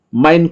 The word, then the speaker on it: mein: Tapi diucapkan adalah mein, ya. E-I ada ucapannya seperti A, ya, E-nya.